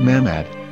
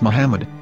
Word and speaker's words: Muhammad: a after the H according to Ben yehuda's Hebrew English dictionary it is correctly pronounced as Muhammad not mammad so how we're going to know for sure if it's pronounced as Muhammad the Muslim Prophet or